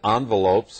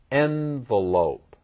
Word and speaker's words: envelope: friends and relatives red envelopes for happy events but white ones for funerals and if you listen carefully to my pronunciation of this word you noticed I said it two different ways envelope envelope um number four